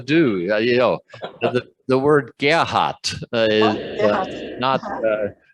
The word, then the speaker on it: Gerhard: on the German pronunciation, the R in Gerhard sounds like just a little twist of an A when it's at the end of a syllable.